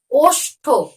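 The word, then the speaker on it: ওষ্ঠ: আমরা যে শব্দটি পড়বো সেটি হলো অষ্ঠ দেখো উচ্চারণটি কি অষ্ঠ দেখো অনেক সময় কিন্তু আমরা উচ্চারণ করি কিন্তু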